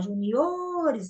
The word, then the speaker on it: juniores: E os juniores, ó, juniores, então o O é o mais forte.